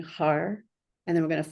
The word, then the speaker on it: har: And this is pronounced H-A-R. I'll type it here. As you pronounce it, it's going to be similar to the way the R in guru is pronounced, where you put the tongue up on the top part of your mouth, like right behind the teeth.